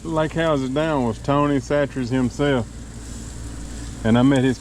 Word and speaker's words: Chachere's: And 3 or 4 lake houses down was Tony Chachere's himself. And I met his kids out there fishing. And I asked them, how do you say your last name? They said Chachere's.